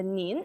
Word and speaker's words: 您: they, and we also learn about some another pronunciation. The pronouns is for the polite way, which is the word 您. Okay, the nin, and of course we'll introduce the characters here just very simple one.